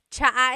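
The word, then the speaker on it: tsa: And it's spelled T S A. Cha. Cha. That's such a Tagalog spelling. I love it. There's the ts sound and then the double vowel uh pronunciation.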